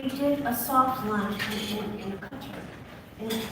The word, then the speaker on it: Qatar: a soft lunch in Qatar. And some people pronounce it Qatar, but Qatar, yes, and that's what you're seeing there.